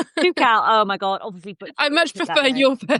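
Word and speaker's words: Toubkal: camp and re wilding in Zimbabwe and Mount Tobacle. Tobacco. Tobacco. How do you say that? Tipcal. Tukcal.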